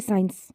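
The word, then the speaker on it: science: some rules are letter सी इ साइलेंट इन सी word combination जहां जहां भी एस एंड सी एक साथ आएंगे वहां पर सी साइलेंट होगा जैसे कि साइंस और जहां जहां पर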